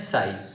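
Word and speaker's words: psi: पी जो होता है हमारा साइलेंट होता है, तो ये हमारा क्या होता है? साई। हम इसे क्या प्रोनाउंस करते हैं? साई।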